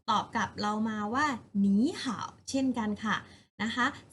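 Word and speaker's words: 你好: เสียง คำ ว่า มี เป็น หนี นะ คะ หนี ห่าว หนี ห่าว แปล ว่า สวัสดี ค่ะ เด็ก ๆ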